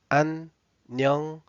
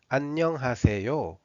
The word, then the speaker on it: 안녕하세요: When you read it very carefully, it should be like 안녕하세요. 안녕하세요.